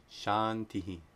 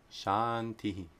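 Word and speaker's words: शान्तिः: So if Anuswara precedes a dental sound, it's pronounced like the dental nasal na.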